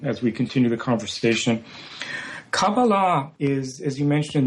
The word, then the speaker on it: Kabbalah: Uh the the the modern Hebrew pronunciation is Cababala and that's that's the one I'm going to use but the pronunciation you're using Sylvia is is perfectly fine as well.